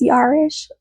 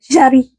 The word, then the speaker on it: Jari: I thought it was Yarish. Yarich. I was trying to pronounce it in a different phonetic language than French. But apparently she's French, so Jari.